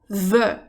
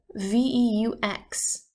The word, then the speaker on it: veux: If I wanted to say that I want something, I would say je veux, V-E-U-X. If you want something, we would say tu veux, V-E-U-X, spelled the exact same way.